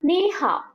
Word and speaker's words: 你好: ওকে, just এটাই মনে রাখবেন যে কি দুইটা থার্ড টোন যখন একসাথে হয়, প্রথম ধাপটা আপার টোন হয়ে যায়। আপার টোন মানে উপরের দিকে উচ্চারণ হবে, যেমন নি হাও, এরকম না বলে আমরা কি বলবো? নি হাও।